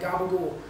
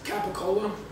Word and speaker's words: capicola: say crazy things about we pronounce words in crazy different ways like gobble ghoul so that's capicola it's a ham and we call it gobblegum and so everybody wants